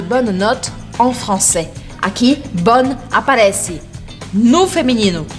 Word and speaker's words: bon: A única diferença é do masculino para o feminino, que a gente muda a pronúncia. Bon, bonne, d'accord?